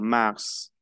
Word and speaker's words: mars: Le prononcio la S final. Es una excepción. Mars.